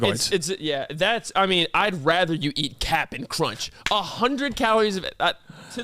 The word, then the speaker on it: Cap'n: The fact you said it right, Cap'n, not Captain, you said Cap'n Crunch.